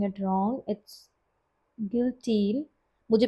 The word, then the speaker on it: guillotine: सो गिल्टीन, ओ आई am pronouncing it wrong, it's guillotine. मुझे भी नहीं पता guys, I'm searching it on the Google. So it's pronounced guillotine and it's a machine used for cutting paper.